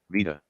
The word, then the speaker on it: Vida: I suppose, just for respect, since they pronounce it Vida.